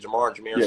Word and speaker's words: Jahmyr: Jameer, sorry. Jahmyr.